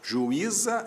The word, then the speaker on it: juíza: Juíza é outra história. Ju, I, za. O U para um lado, o I para o outro. Isso é hiato. O Z foi parar na outra sílaba, então esse I de juíza recebe acento.